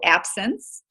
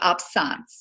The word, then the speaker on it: absence: to talk about is the absence seizure and it's spelled absence but it's it's pronounced absence and that was the first seizure that Megan